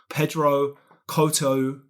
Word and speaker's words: Pedro Couto: uh so I'm I'm really delighted to welcome Pedro Coto Lop I believe I got did I get